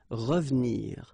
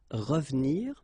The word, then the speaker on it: revenir: So you've got re and then ve and nir, but then clearly you don't pronounce it, so you get revenir, revenir.